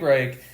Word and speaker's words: Reich: Reich.